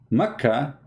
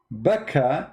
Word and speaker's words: Makkah: do you see it makkah became bakka makka became baka but how that can be you cannot change the name the answer is very simple becca is how it is pronounced for some people makkah it's how it's